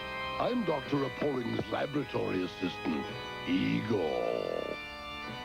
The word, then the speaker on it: Igor: Appalling's laboratory assistant, Igor. That rhymes with Seymour.